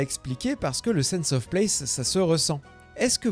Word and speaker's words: sense of place: concept qu'on appelle le sense of place. Et on le prononce à l'anglaise parce qu'il n'y a pas vraiment d'équivalent français.